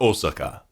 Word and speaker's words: Osaka: uh this was in Osaka actually or Osaka if uh you were saying it Japanese style um with the Japanese you know pronunciation what have you I